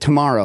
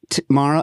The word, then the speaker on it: T'maro: way folks it's called you pronounce it tomorrow right like tomorrow correct yeah now seeing